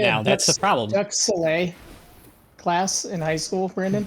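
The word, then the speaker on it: duxelles: Duxelle.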